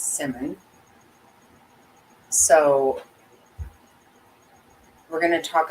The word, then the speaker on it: Simon: I think we have I had it wrong I was calling him with Simon and it's Simmon so we're going to